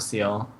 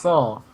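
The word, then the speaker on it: Seoul: And it's looking pretty difficult right now for Exo Seal. Seal? It's like Korea. It's Exo Soul. Exo Soul? Oh, right, that's right. That's how it's pronounced. It's pronounced Soul.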